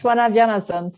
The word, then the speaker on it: Svana Bjarnason: is none other than Svana Bjarnason. Am I pronouncing that correct? Yeah, almost. It's Svana Bjarnason. So yeah, Svana close. Bjarnason.